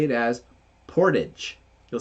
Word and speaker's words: Portage: will tell you know it's not Portage it's Portage Portage see from us in